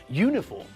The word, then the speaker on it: uniform: an hour with university uniform and European we pronounce all these words with a year sound at the front it's